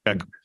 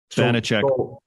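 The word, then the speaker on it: Vaněček: He got paid five times five, but second and third are Samsonov, and then uh is it Vanecek or Vitek? How do you say his name? Vanecek. Vanecek.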